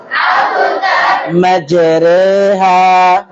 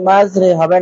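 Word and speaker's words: مجراها: ইকো আওয়াজ হবে, তাহলে হবে মাতলাইল ফাজর, আবতার, মাজরেহা। মাজরে, মাজরে হবে না, মাজ, মাজরেহা।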